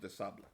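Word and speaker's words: de Sablé: It's the Sable, but it's pronounced de Sable.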